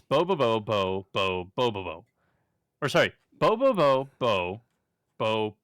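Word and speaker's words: Bobobo-bo Bo-bobo: no it's I I copied and pasted it's bobobo bo bo Bobo or sorry bobobo bo bo Bobo that's that's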